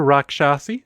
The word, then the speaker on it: Raksasi: is a double Slayer Rock shassy which I know is the correct way to say that because I watched a video about I think it was DND D there was a word that looked like that and that's how was pronounced and I am rolling